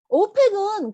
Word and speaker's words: OPEC: 오펙은 그런데 단어대로 읽었더니 오펙 하니까 어하고 모음으로 시작하죠.